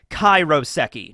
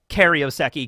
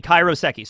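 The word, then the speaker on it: 海楼石: kanji that make it up and it's actually pronounced kairoseki not karyoseki kairoseki so Kai Ro seki three kanji all right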